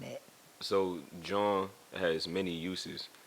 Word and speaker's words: jawn: it what that thing j-a-w-n john like lon john yeah yeah cool but